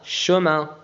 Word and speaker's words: chemin: ش CH تنطق ش. IN تنطق un. chemin chemin.